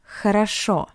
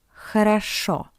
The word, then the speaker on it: хорошо: Хорошо, хорошо. Because the first two O are unstressed, that's why we pronounce it as A.